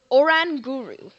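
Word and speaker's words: Oranguru: Pokemon we got is or or an guru that's how you pronounce it the sage pokémon with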